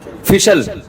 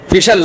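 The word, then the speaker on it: facial: फिशल फिशल फिशल फैशनल। अबे सही प्रोनाउंसिएशन बुलवाया करो। फेशियल ना फैशल ये अमेरिका से आए हैं।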